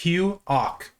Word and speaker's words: Hugh Auk: This one, the K is silent, so it's Hugh Auk.